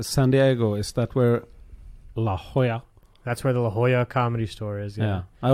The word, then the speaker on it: La Jolla: I always say La Jolla because Jolla. I don't know how to say that. La Jolla. La Jolla. No, you got it. That's how you say it.